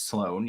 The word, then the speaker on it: Sloan: people call me SL04 and I'm like, it's Sloan. You have to pronounce the 04.